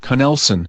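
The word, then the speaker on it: Knelson: Conlson with a K. That's spelled K N E L S O N. I see the K is not silent.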